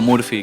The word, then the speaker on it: Murphy: La pronunciación. Yo acá le digo Murphy, Murphy.